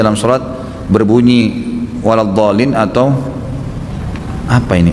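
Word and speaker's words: الضالين: saya ketika salat berjamaah mendengar Imam membacanya wadin wabin dibaca sedang dalam Alquran saya lihat tidak ada huruf ba Bagaimana solusinya ya yang saya tahu tetap di baca do ya Win ya Bolehkah salat tahiyat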